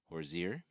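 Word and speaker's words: Horzire: is going to be horir uh like the singer Hosier it's it's spelled h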